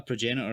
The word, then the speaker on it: Progenitor: pain tribute it's a a lot of people ask me how to pronounce it so hopefully for those that listen to the podcast they'll at least be able to hear this the the model is called the progenitor and it's a progenitor is defined as what